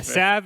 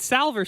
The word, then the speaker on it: salve: a made-up solution yeah sav is is it salver sacks i'll fight you on this podcast definitely salve there is an l it's south sav must